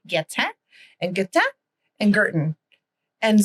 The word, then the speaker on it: Guertin: It's Guertin is how I pronounce it. But I appreciate that is not the Francophone way of saying it.